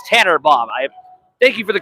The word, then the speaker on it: Tannenbaum: I was accidentally mispronouncing it, saying Tanner Blom. It's Tanner Baum.